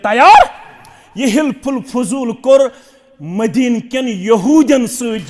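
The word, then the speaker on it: حلف الفضول: तथ एग्रीमेंटस ओस नाव हिल्फुल फजूल क्या ओस नाव हिल्फुल फजूल क्या वन हल्फुल फजूल मगर सही प्रोनाउंसिएशन हिल्फुल फजूल मदीनस अंदर युस वनकनस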